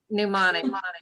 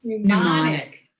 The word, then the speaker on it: mnemonic: Mnemonic. Mnemonic.